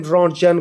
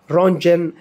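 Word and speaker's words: Röntgen: गया था एक्स-रे को रोंजन यानी इसी के नाम से रंजन रे भी कहा जाता है रौजनरे भी कहा जाता टी को साइलेंट रखते हैं ज्यादातर रंजन रे भी कहा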